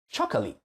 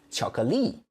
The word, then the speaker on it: 巧克力: in Chinese may be chocolate. So that's the problem. You stress the beginning. But in Chinese, we don't do that. We stress the last syllable. So it should be 巧克力, 巧克力.